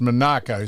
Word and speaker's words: Monaco: I spoke to the bloke who was the aid to Comp of Monaco and he said it is pronounced Monaco.